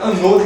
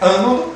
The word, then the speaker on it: ânodo: Cuidado, tem gente que pronuncia anodo e catodo, mas não é anodo e catodo, é ânodo e cátodo. Tem um baita de um acento, né, nasal no ânodo e um acento aberto em cátodo.